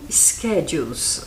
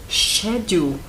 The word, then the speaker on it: schedule: do School schedules School schedules Há outras maneiras de se pronunciar por exemplo Schedule pode ser pronunciado shedule dependendo do local onde você está no mundo que quer dizer